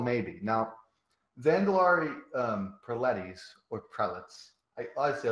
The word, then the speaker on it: Prelates: How do you say it? Is it not Preletis? It's Prelates. Prelates? It's a prelates, as I believe, the most accepted. Oh, like zealots?